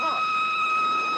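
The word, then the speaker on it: Froy: My name is Roy. You said Roy? No, not even Lee. Roy. I'm sorry, I can't hear. Roy. It rhymes with joy.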